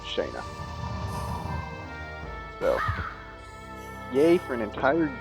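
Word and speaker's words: Shana: This is an instance where her name is pronounced Shanna or Shauna or something, and I choose to pronounce it Shayna.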